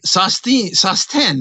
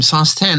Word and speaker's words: Sosten: So anyway, Sosten, that's how you pronounce his name, Sosten.